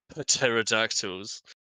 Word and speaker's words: pterodactyl: You see some pterodactyls sort of nesting into the rocks and crevices, who pay no attention to you. They pay no attention to us. The P is silent.